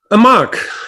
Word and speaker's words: Amarque: And you pronounce it Amarque or Amarque? Amarque.